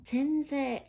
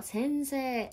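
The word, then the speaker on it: せんせい: 센세 선생님. 자, 여기도 장음이죠. 센세 이런 식으로.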